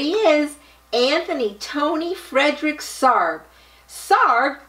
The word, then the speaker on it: Sarg: anthony tony fredrick sarb sarg rhymes with arg i wonder if he